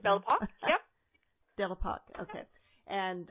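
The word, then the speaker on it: Belle Époque: during the belle epoque how do you pronounce that word uh i think it's bellapop yeah devil park okay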